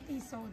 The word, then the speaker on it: Tissot: Ano bang pronunciation yan? Tiso. Tiso. Tiso. Ah okay. Tiso. Silent tea. Silente.